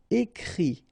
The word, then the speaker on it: écrit: Okay, and then the it, phonetically you pronounce i because final t is not pronounced, but still. Écrire, to write, écrit.